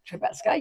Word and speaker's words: Trembecka: Trembecka, yeah.